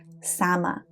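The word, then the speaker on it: saman: The word shaman is a mispronunciation by early explorers of the original word sama, not salmon as the most literally was.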